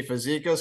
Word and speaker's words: Fazekas: Tim here with gutter growth I got Jimmy physicos in front of us hopefully I pronounce that right uh perfect right why don't